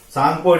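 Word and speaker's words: Tsangpo: Name of Sangpo river. T is silent, T-S-A-N-G, pure, Sangpo river, and entered into India in the name of Brahmaputra, and here is the Dihang Gorge in Arunachal Pradesh.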